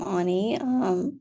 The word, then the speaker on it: Ani: I'm Ani.